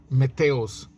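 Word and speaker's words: μίσθιος: siervos jornaleros se llama se escriben mis tíos en griego sí pero se pronuncia meteos sí y estos siervos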